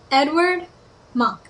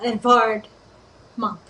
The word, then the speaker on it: Edvard Munch: artist of this Julie Edward monk or sorry if you're going to pronounce it the correct way it has a v so Edvard monk Edvard Monk there you